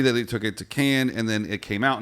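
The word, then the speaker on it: Cannes: check this out can't she can't hear this can can dad can't con concussion uh so when you're talking to your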